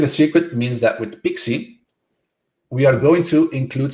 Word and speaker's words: PKCE: code exchange also called pixi so it's called pkce but it's pronounced pixi it's a more complicated